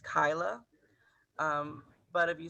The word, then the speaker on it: Kiala: So it's actually Metro Inclusive Health, and my name is pronounced Kyla.